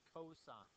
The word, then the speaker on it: cosine: come on in right don't say Co don't say C say coine okay that would be